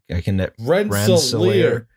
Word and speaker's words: Rensselaer: Rensselaer. God, I don't know how to pronounce. You went to a school that had a dorm named after that family. That's true. Yeah. Well, rhymes with engineer.